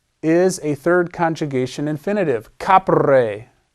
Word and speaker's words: capere: The infinitive is a third conjugation infinitive, capere. This E is a short E, just like in ducere. It's not capere.